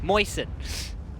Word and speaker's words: moisten: Moisten. Moisten. It sounds like the word moist.